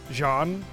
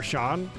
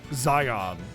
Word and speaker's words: Xian: So like Xian is actually Zhan or Shan and not Zion or whatever.